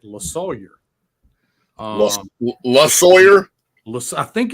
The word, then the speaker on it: Losawyer: It's Losawyer. It is Losawyer.